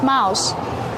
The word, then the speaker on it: mouse: How do you pronounce mouse? Mouse. Yep. It has the o u sound making ow like house.